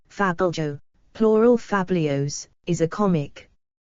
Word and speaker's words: fabliau: V * T * E A Fabo French pronunciation Fabo plural fabios is a comic often Anonymous tale